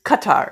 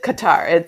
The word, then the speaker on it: Qatar: I did I did find out how to pronounce it's Qatar it's Qatar that's the New York Times interview to uh